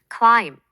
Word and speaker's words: climb: knee, 무릎나 knob, 손잡이처럼 kn으로 시작하는 단어들은 K가 psychology, 심리학처럼 푸스로 시작할 때 P가 climb, 오르다에서는 B가 묵음이고 talk, 말하다에서는 L이 묵음이 된답니다.